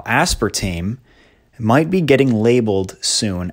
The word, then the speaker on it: aspartame: It's probably either aspartame or sucralose.